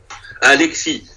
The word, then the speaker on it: Alexis: En passant, juste de même, Alexis, on ne prononce pas de S. Là. Alexis.